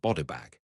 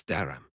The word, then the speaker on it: Darham: But my lord, yes, it's not bodybag, it's Darham.